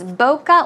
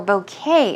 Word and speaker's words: bokeh: But it's bokeh or bouquet as well. It's pronounced several ways.